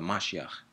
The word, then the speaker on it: Mashiach: He's the Mashiach, and you should call him by his true title, the Mashiach. The Mashiach, if you want to pronounce the k, or the Mashiach, that's his name, that's the title.